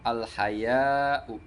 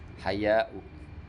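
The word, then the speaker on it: الحياء: Wa bi musannatin tahtiyatin, dengan dibacanya bertitik 2 di bawah. Wal mad, dan panjang. Al haya, panjang. Artinya dibaca mamdudah. Haya'u.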